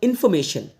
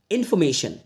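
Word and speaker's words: information: इसको बोलोगे इंफॉर्मेशन पर इस रा को मत बोलना क्योंकि नेटिव स्पीकर्स रा को प्रोनाउंस नहीं करते हैं अगर रा साउंड दिया जाता है कहीं किया जाता है और कहीं नहीं भी किया जाता लेकिन इस वर्ड में आपको इसको बोल बस इंफॉर्मेशन इंफॉर्मेशन ठीक है चलिए अब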